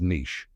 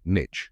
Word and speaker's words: niche: do you say it the most common pronunciation is Niche rhymes with Shish but in American English some people also say Niche rhyming with Ditch both